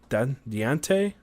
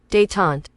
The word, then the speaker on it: détente: Diante? How you pronounce that? We're going to Google it. We're going to learn a new word here. Let's see what Google has to say. Détente.